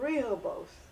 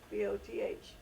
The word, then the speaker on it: Rehoboth: was a place called Rehoboth. Rehoboth, I believe, is the correct pronunciation. It's a biblical name, Rehoboth, and you'll find it